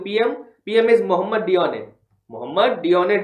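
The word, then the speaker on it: Dionne: पीएम पीएम is Mohammad योने Mohammad योने योने के spelling है डीआईओ एन एनी डी आई ओ एन एनी इज the prime minister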